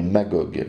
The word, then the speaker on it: Magog: le fils suivant est magogue qui se prononce ainsi aussi bien en grec qu'en hébreu nom assez connu pour